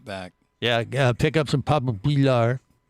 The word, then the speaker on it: Papa Pilar: And you're supposed to say it like that, just like when you say, we have Pusher's rum. It's Pushers! Yeah, and then when you have Papa Pilar's rum, it's Papa Pilar.